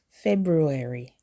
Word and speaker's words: February: Don't skip the R after the B. February.